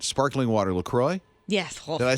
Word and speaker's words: LaCroix: i'm going to say this right sparkling water lacroix yes did i say it right mm-hmm okay